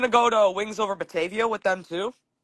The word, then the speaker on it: Batavia: Oh, it's Batavia. That's how you say it. Yeah, Batavia. I always thought it was Batava. Batava? Yeah. Yeah, that's how I always pronounced it when I was younger, but then I found out that it was Batavia.